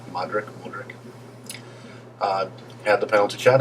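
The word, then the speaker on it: Modrić: Fed so so then Modric I believe that's how you pronounce his name modri Modric uh had the penalty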